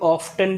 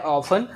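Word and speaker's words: often: कहीं always, ऑफन, generally, इसे लोग ऑफ्टन भी बोलते हैं और ऑफन भी बोलते हैं। सो बेटर प्रोनाउंसिएशन इसका है ऑफन, ऑफ्टन भी आप बोल सकते हैं, मैं ये नहीं कह रहा नहीं बोलना चाहिए, बट मैं रेकमेंड करूँगा आपको ऑफन बोलिए, ज़्यादा बोला जाता है।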